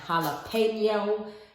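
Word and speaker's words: jalapeño: I'm going to go in with my jalapenos, my jalapeno. My Spanish friends tell me that's how you say it, jalapeno.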